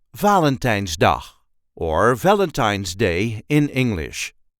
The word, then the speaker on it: Valentijnsdag: Valentine's D Valentine's D there is a light emphasis on the first syllable Valentine's D VA L's D Valentine's D the nland started celebrating Valentine's do in the 1990s I